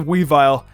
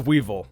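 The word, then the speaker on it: Weavile: look at that witch cap weevil yes I pronounced a we vile as a weevil I watched way too majiggy oh growing up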